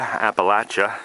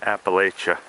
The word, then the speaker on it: Appalachia: the um how the the locals pronounce um this area Appalachia not Appalachia but uh here in